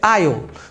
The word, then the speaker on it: aisle: Então, a pronúncia é aisle, totalmente diferente do que se parece que seria, se a gente brasileiro ia ter a tendência de falar muito diferente do que é na verdade.